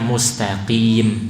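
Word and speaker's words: مستقيم: Tapi kalau mustaqim tetap qim, tidak ada variasi yang lain ya. Semua imam 10 bacanya mustaqim, tidak ada yang mustaqim atau berubah jadi kaf.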